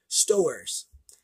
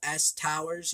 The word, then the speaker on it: Stowers: is uh Josh Stowers now I thought his name was Stowers you know s Towers you know I figure that's how you you pronounce it but it's actually Stowers which is kind of similar to stores so Josh Stowers is